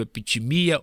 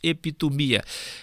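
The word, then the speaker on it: ἐπιθυμία: A palavra concupiscência, alguns pronunciam no grego epitimia, outros epitomia.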